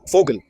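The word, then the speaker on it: Vogel: It is written as voil but pronounced as fogal.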